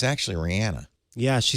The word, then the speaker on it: Rihanna: officially apologize to you is it Rihanna it is Rihanna see I thought I you know I've said Rihanna for years yeah she's from uh the